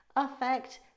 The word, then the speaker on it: affect: Affect with an A is pronounced as if it's an uh, like in umbrella, whereas effect is pronounced with an I sound, like eat.